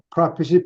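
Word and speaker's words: prophet: 원래 영어 단어가거든요 예 프라피 발음은 이익이라는 남말 PR Fit 하고 발음은 똑같아요 근데 프라프 하면 동사지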